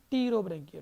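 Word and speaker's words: Pterobranchia: T. Rowe का मतलब आता है फेदर, तो इट इज टीरोब्रैंकिया। ठीक है, मतलब पी जो है वो साइलेंट होता है।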